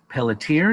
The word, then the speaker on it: Pelletier: Today, my very special guests are Pelletier, did I pronounce that properly?